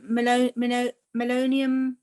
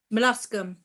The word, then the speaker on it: Molluscum: in the past, I'm not very good at pronouncing it. Is it melonium? It's like that virus. Is it called melonium or something? Begin with M. Molluscum.